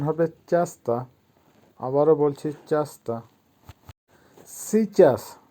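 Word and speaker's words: часто: চাস্তা, চাস্তার অর্থ হবে প্রায়ই। উচ্চারণ হবে চাস্তা।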